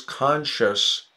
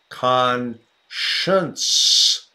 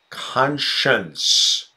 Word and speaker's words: conscience: on my great grandpa's conscious forever who his conscious Marla yes Khan shunts you've got to have that Khan science word pronounced conscience the evils of slavery